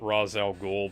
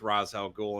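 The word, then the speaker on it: Ra's al Ghul: pronounce his name idiots it goes back and forth between being razz and race depending on who's saying it because and the devil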